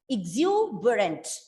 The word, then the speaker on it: exuberant: in the unstressed syllable see this will become a short e sound here we can put the schwa sound so it is not exuberant it is exuber exuberant rent we won't say rant r-a-n-t see this is how